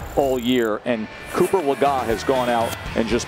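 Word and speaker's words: Cooper Legas: Cooper Lagan. That is the correct pronunciation, as we corrected ourselves just a few minutes ago.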